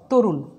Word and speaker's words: তরুণ: বধু, বধু শব্দ এখানে আর একটু বলি, তরুণ তরুণ তরুণ লিখছি কিন্তু আমরা উচ্চারণ করব তরুণ, ওকার চলে আসবে।